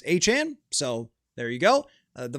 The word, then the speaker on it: Etienne: and they spent and Travis Etienne not Etienne if you missed that Travis Etienne mentioned that his name has not been pronounced right for his entire career it's actually Travis Etienne so there you go